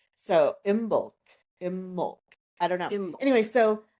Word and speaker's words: Imbolc: I looked it up the B is often very soft or silent in some of the older um pronunciations in Irish and some other Gaelic languages. So, imbul I don't know.